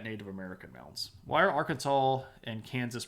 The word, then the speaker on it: Arkansas: that we pronounce words you would say AR Kansas but we don't say AR Kansas we say Arkansas because it's weird like that anyway so um we